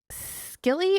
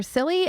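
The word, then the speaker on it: Scilly: on is called The Isle the Isle of skilly or silly s-c-i-l-l-y we haven't be silly they figure out how to pronounce that you just want it to be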